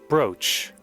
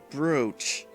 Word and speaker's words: brooch: to look this up how do we pronounce this brooch brooch yeah let me switch to my pc audio real quick so i can hear this broach approach okay brooch see that's why i was confused about the word it's pronounced differently than it looks our mother happy could